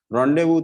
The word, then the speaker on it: rendezvous: wanted to make sure because it's the french right what is written and pronouns is different okay so rendezvous so i even i urge everyone whenever you come for it make sure we pronounce the name correctly so rendezvous means we